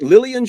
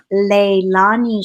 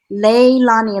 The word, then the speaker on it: Leilani: Leilani, like Lei as a Hawaiian flower, and then Lani like Lonnie.